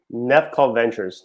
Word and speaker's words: Nevco Ventures: How do you say it? Nevco Ventures, never cautious. Never cautious.